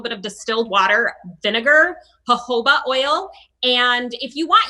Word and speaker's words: jojoba: with a little bit of distilled water vinegar jojoba oil and if you want you can add